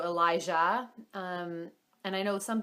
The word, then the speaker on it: Elijah: with Elijah is that some people pronounce it Elijah with like a hard J and we liked it with the softer J sort of like in like Jal if you speak French so Elijah um and I know